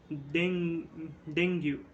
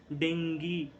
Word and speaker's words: dengue: We call it as dengue. Okay, and dengue is not the correct pronunciation. It is dengue.